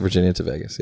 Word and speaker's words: Virginia to Vegas: Virginia to Vegas at Toronto Vegas okay we pronounce it Virginia to Vegas okay but do you think that Derek and